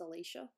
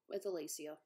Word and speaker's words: Alicia: I mean, most of the time when people say the name, it's Alicia. But for me, it's Alicia. It's how my mum pronounced it when I was in hospital, and it's what I'm sticking with.